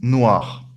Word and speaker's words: noires: Yeah, we don't pronounce that last S. Okay. Yeah. Hmm. Des chemises noires.